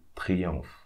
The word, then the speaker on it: triomphe: Okay, when you have PH in French, you should pronounce F. And we are not going to read this E, so triomphe.